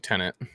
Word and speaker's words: Tenet: for today is that tinnette or tennant whichever one uh all right confirmed in the film yeah oh it's or no no they they actually yeah they pronounce it like tennant yeah they do yeah